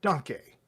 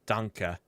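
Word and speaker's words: Danke: making your case uh donkey now where were we i think it's a short e like danka donkey no danka oh danka danka now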